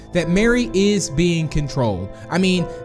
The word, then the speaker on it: Mari: kind of getting confused on pronouncing mari or mary but it's definitely mary being that it's a marionette which again is the proper name for this specific type of puppet which makes sense on